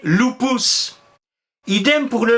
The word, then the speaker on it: lupus: vous ont appris latin le U on prononce u on dit lupus mais en fait les romains prononcit ou il disait loupous idem pour le V